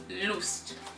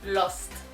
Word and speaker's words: Lust: loose in it and the whole time i was pronouncing it as lost because is the